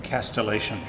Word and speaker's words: castellation: Castellation. Castell. Maximum castellation. So castle. When you say the word castle, the T is silent. When you say the word castellation, it no longer is silent.